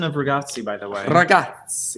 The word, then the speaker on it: ragazzi: She said good pronouncing of ragazzi, by the way.